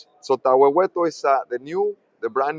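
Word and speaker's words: Tahuehueto: You got Campo Morado and how do you pronounce the next one? Campo Murado and Taweto. Tooto. So, Taweto is the new the brand new gold mine.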